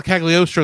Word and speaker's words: Cagliostro: the third castle of casc how do you pronounce it well castle cagliostro is what you're trying to say but i